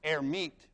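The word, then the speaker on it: Hermite: for a guy named herit who didn't actually pronounce the h but let's pronounce it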